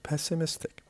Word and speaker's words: pessimistic: The word pessimistic. The word pessimistic has 4 different syllables, and the stress is on the third one because we have IC, and IC changes the stress to the syllable before the last.